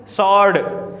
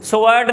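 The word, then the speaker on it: sword: सॉर्ड, सॉर्ड जो तलवार होती है, स्वॉर्ड नहीं होता, ये सॉर्ड, क्या होता है? सॉर्ड, डब्ल्यू साइलेंट होती है, ठीक है जी।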